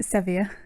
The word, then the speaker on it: Seviour: How do you pronounce your name? Seviour.